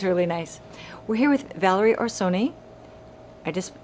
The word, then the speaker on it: Valerie Orsoni: today this one's really nice we're here with valerie or sony i just pronounced that right it's perfect yay i did